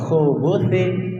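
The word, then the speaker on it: الخبث: ko Allahumma inni azubika Minal khu ko ya bukan Ha Minal khubusi pakai tsa bukan pakai sin bukan pakai Sya pakai tsa Minal khubutti wal khobais khubus itu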